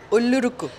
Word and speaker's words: Ullozhukku: Ullozhukku. Ullozhukku. So the thing goes up. Ullozhukku. Ullozhukku. Now you can just replace the R with R. Ullozhukku.